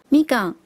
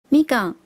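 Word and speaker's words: みかん: 橘子的日文念作みかん，みかん。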